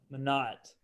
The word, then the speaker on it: Minot: Wait, how does he pronounce his last name? Minot. Minot.